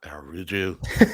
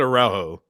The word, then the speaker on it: Araujo: Not Aruju. That's the We went Brazilian over this before the pronunciation. show, Yeah, we didn't were. we? Yeah, we did. That's if he's Cesar Araujo. Brazilian. Yeah, Cesar Araujo. Araujo is how you pronounce his name.